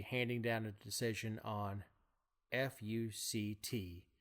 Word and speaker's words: FUCT: down a decision on fu C T which is how Kagan says it's actually pronounced because there are dashes between it even though it has